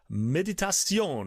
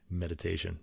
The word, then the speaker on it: Méditation: about tonight is called medit and that's I get to pronounce it in French because of the sort of accent over the E there so it's not going to be meditation I guess you could